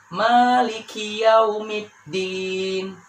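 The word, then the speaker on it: مالك يوم الدين: hams dan berharokat kasroh sering terjadi kesalahan huruf Kaf ini tidak dibaca atau bahkan disukunkan contohnya Maliki yaumid diin Maliki yaumid di itu salah yang benar adalah Malikiyaumiddin kemudian kita lanjut ke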